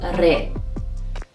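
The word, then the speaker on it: ر: twelfth letter is re re sounds like a radio in english but our pronunciation of the letter re is similar to the pronunciation of the spanish speakers not like english speakers which we say radio in persian it has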